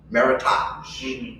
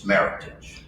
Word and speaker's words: Meritage: hear it terribly mispronounced maritimes it's not french it's very american it's meritage john's a very nice